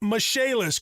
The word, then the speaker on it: Michaelis: restoration and insurance restoration spelled m i c h a e l i s pronounced mishaelis call 844 fix indy